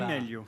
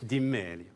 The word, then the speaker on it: Di Meglio: On doit pas prononcer le G d'ailleurs à mon avis. Absolument, ouais, on dit Di Meglio. Di Meglio.